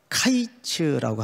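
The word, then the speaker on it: קַיִץ: 되어 있죠 음이 같다 여름 과일을 보통 카이츠라고 합니다 카이츠 또는지 뭐 외래우니까 화이트라고 발음하기도 하고 카이츠라고 발음하기도 하는데이 끝이라는 말이 캣츠라는 발음을 써요 캣츠 그러니까 여름 과일이라는 카이치라는 발음과 끝이라는 캐치라는 발음이 발음 자체가 유사합니까 유사하지 않습니까 유사하지 않는 건 제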